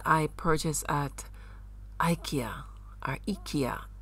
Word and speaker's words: IKEA: unique little thing I purchased at Ikea or Ika it's pronounced I will put it in the pot